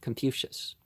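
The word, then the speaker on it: Kong Fuzi: Many of the people who came to the house of the young superintendent of fields called him Keung Jatza, which means Keung the philosopher. We pronounce it Confucius, because we don't like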